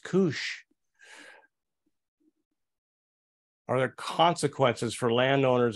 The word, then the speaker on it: Coos: meeting chat Diane lazarge Coos is pronounced Kush are there consequences for